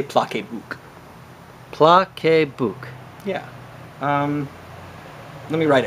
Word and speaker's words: PlaceBook: important that we um get everyone to pronounce it correctly you know uh pla book uh I think I think if people say pla book it would make everybody happy so that's our new